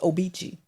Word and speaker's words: Obici: It's Obici but it's I always thought it was called Obici. It's pronounced Obici.